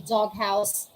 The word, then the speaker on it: doghouse: to back letters makata if that's the case we pronounce them separately we say dog house big head fog fogborn all right take note doghouse